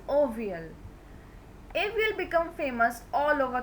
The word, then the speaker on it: avial: He named it Avial. That is pronounced as ovial.